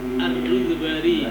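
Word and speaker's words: الروذباري: Ini yang tadi bacanya Ar-Rudbari bidon birro'i ba'i al-muwahhadati wa fi akhiriha ar-ra dan alif ar-rud bari bidomir ra wa sukunil wawi wad dal.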